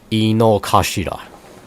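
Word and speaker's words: Inokashira: the overall map of the of the park Ino kashida that's how you pronounce it it looks pretty yeah it's it's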